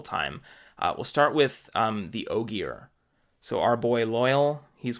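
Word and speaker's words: Ogier: we'll start with the Oggy R so our boil oil he's one of the oh dear I would always use a soft G in instances like this so I was saying Oh G R and I do that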